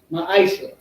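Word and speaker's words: מעשר: and 8 to 10 means 10th in the Hebrew and is pronounced ma Isa 10% of every penny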